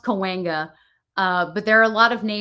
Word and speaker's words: Cahuenga: It's pronounced Cahuenga.